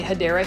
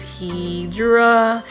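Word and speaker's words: Hedera: correct way to say hadera Helix so for those that are new I mispronounce hadera Helix as hedra Helix because for the longest time I was like mispronouncing it and so for those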